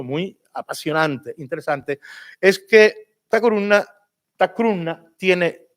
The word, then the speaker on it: Takurunna: Se escribía en los documentos antiguos, porque no hay grafía medieval, Tacuruna, igual, idéntico. Pero la pronunciación es Tacruna.